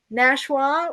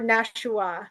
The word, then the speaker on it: Nashua: Three syllables, Scott. How many syllables? Two syllables or three? Nshwa or Nashua?